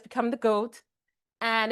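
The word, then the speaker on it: JOAT: It's pronounced goat, go a t, but it's spelled j o a t.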